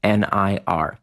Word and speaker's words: Nir: nearandfar and you want to enter in the discount code near and far now remember near is spelled like my first name nir check that out at